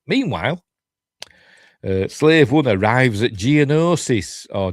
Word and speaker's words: Geonosis: Meanwhile, Slave One arrives at Geonosis, or Geonosis, as George Lucas pronounces it.